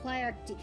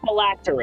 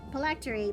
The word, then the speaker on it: phylactery: to lure wayward souls to feed the Lich's Plarity. Oh yeah! It's pronounced phylactery. Let's just feed off souls. Phylactery, but thank you.